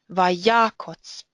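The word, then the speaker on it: ויקץ: The stress is on the first syllable. Vaya. Therefore the kots is an unstressed closed syllable. Vayakotz.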